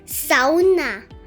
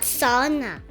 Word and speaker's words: sauna: In Finland, they pronounce it sa with the emphasis on the first syllable, not sauna. Like many of us are used to saying, since we're in Finland, let's say the Finnish way, sa